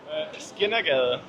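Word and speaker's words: Skindergade: Das Kindergrade. Ist richtig ausgesprochen, das Kindergrade? Skinnergade.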